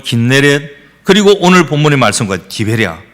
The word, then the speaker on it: 긴네렛: 갈릴리, 게네사렛, 구약 발음으로는 긴네렛, 그리고 오늘 본문의 말씀과 디베랴, 이렇게 발음을 하고 있습니다.